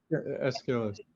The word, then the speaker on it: Aeschylus: It's Eschil, how you pronounce Aeschylus? Aeschylus? The Greek tragic. Oh, yeah. Eschil? Aeschylus, yeah.